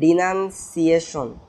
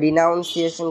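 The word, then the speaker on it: denunciation: তারপর সি নম্বর যেটা, এটা ডিনান্সিয়েশন, অনেকে ভুল করে ডিনাউন্সিয়েশন কোনো রকম কিছু একটা মনে রাখতে পারে, তোমরা একটা জিনিস খেয়াল রাখবে যে প্রোনাউন্সিয়েশন ডিনান্সিয়েশন এগুলোতে নান NUN ইউজ হয়।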